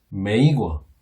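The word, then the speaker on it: 美国: 근데 우리는 미국이라고 부르지만 중국 사람들은 이 아름다울 미자의 나라 국자를 메이거 이렇게 부릅니다. 메이거. 예. 아메리카 비슷하게 들리나요? 예. 매자가 비슷하게 들리죠. 그리고 뜻도 어느 정도 통하는 예. 국자, 나라 국자를 써서 메이거 이렇게 불렀습니다.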